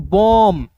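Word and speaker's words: bomb: बॉम। यहां पे B silent होगा।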